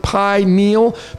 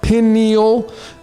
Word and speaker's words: pineal: you stare at the word pineal pineal you can do it either way and they're both right i have found pineal is the best expression the best breakdown it's two syllables it's 914.